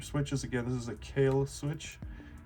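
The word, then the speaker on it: Kailh: Again, this is a kale switch. K. It's spelled it.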